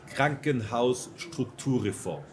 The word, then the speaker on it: Krankenhausstrukturreform: But could you pronounce it real quick? In Deutsch, what it is, it's Krankenhausstrukturreform.